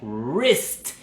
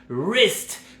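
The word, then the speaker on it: wrist: distinta y se pronuncia Rest Rest como si estuviéramos empezando la la pronuncia es como una r súper larga que viene de la garganta no viene de la lengua como en el español Rest Rest si se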